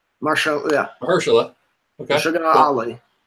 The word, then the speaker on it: Mahershala: I can't pronounce his name. Mahershala. Yeah. Mahershala.